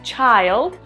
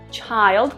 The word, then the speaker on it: child: child children niño niños en la forma singular pronunciamos child child con ay en la forma del